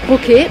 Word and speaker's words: Poke: grazie al nuovo tasti poke, con l'accento sulla E, ristorante hawaiano doc che ha